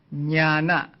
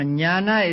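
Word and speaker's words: jñāna: Now, as I explained a few days ago, the dot beneath the letters mean that they are to be pronounced with the front of the tongue touching against the heart palate. They are called cerebrals.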